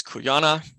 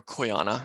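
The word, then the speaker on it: Quyanaa: like hello or welcome then there's the phrase kuyana or koyana I should say which means thank you and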